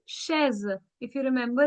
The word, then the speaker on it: chaise: CH, I told you, is pronounced as sh. So it's cheval. It's chaise. If you remember, it's chaise.